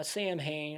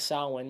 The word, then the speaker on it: Samhain: stars blah blah blah samhain or he says salwin in this one that's how it's actually pronounced um you know he